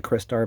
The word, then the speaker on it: Crystar: bright star black star that's how I pronounce the name by the way Christ our even though it says it's like based out of like Crystal but you know I've heard that some people say Chris star but I say Christ